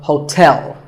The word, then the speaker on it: hotel: There are 2 syllables, ho and tell, like the English word tell as in tell me. The stress is on the second syllable, so hotel.